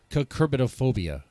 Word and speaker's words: Cucurbitophobia: it is a project a Kirk I'm gonna mispronounce it here kerbitophobia did I say right you got it no